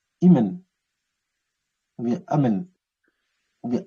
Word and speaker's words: Imen: Amon-Ra, ça s'écrit Imen, Imen avec un soleil à côté. Donc, le terme que vous voyez là, Imen, ça veut dire Amon en fait.